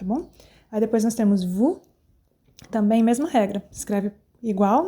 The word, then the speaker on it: vous: Aí depois nós temos vous, também mesma regra. Escreve igual, né? Só a primeira letra que muda, então vous. Não falo vos, é vous, eu corto o S ali.